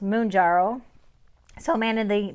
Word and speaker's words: Mounjaro: Manjaro and obviously Manjaro is supposed to be pronounced moonjaro so a man in the moon jarrow and I've been mispronouncing Manjaro which I will continue calling monjaro because to me it makes sense m-o-u-n um